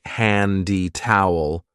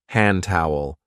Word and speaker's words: hand towel: We don't usually say handy towel. We link it and we say hand towel. Hand towel.